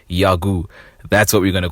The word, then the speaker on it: Jaggu: from it's a a Norwegian slang so it's pronounced yagu and it mean it